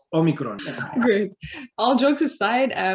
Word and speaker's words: Omicron: It's pronounced Omicron. It's not Omicron. It's not Omicron. It's Omicron.